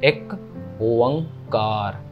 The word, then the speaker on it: एक ओंकार: सो एक ओंकार, कई एकम कार भी कह देते हैं, कई तो अपने अपने भी बना देते हैं, कुछ भी, है ना, सो ऐसा कुछ नहीं है, ऐसे सारे गलत है। सो मेन प्रोनाउंसिएशन इज एक ओंकार, ठीक है जी।